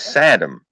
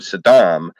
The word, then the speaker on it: Saddam: I never understood that why he always pronounced Saddam Hussein's name as Sodom and the reason he pronounced his name's Adam in it because when you emphasize his name like that instead of Saddam Adam means a stable hand who polishes boots that's the reason he pronounced